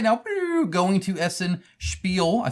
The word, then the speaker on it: Essen Spiel: Well, it's right now because I am on a plane right now going to Essen Spiel.